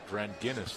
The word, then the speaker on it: Dranginis: It's Dranginis, like the beer.